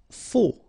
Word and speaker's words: faux: Faux. Okay, final X not pronounced, then you get this AU together, O, faux.